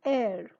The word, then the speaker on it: heir: Then an heir, an honest man, an honor. I am not saying hour or hair or honest or honor. The H is silent in those words.